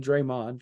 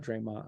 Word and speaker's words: Draymond: green has proven time and time and again Draymond not Draymond I apologize for mispronouncing his first name Draymond Green it should